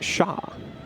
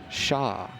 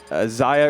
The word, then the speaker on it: Xia: It is pronounced Shah. Shah. I think they said everyone's pronouncing they it said Zaya or Zia will suffice, but like I was like, it's Shah.